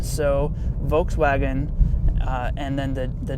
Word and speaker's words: Volkswagen: how do you pronounce Volkswagen well the V is actually an F sound in German so Volkswagen and then the the